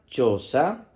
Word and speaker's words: chosa: que está por aquí se escribe con c h y o que suena cho en este caso la letra h no es muda porque tiene la letra c delante va a sonar cho si fuera con la